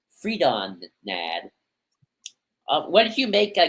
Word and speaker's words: Freedon Nadd: Oh, we call him Freedom Nadd with O-M. We got to pronounce O-N. Freedon Nadd.